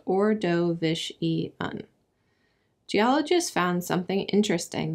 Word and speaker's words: Ordovician: usual we call this time the ordovician period pronounced orishan GE ologists found something interesting when they investigated